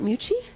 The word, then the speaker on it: Mucci: Did I say it right, Mucci? Mucci, yes. Mucci, okay, because it's double C-I. It's Italian? Correct. Mucci like Gucci without the Like money. Gucci without the money.